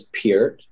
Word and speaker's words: Peart: Last name is Peart. It's spelled like heart, but with the P, P-E-A-R-T.